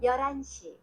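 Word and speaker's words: 열한 시: Ya, kalau tadi pelafalannya itu Yolhan sih itu kalau disatuin Jadi Yorani gitu ya.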